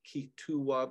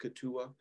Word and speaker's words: Keetoowah: it's titled Stand as One, Spiritual Teachings of Ketua, Awakening to the Original Truths. And just as a footnote, Ketua there, it looks like Ketua, but it's pronounced Ketua.